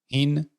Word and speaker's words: HEEN: آره گفتم مثلا HIN یه جوریه، HEEN یا میتونست HEAN باشه. آقا وقتی اینو میدونی تلفظت هم برعکس میشه، هین.